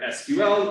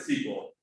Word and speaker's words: SQL: uh python and um there's two common ways to pronounce it either sql like saying the letters or just saying it really fast like sequel uh so like the sequel to a movie and i pronounce it sequel uh anytime you hear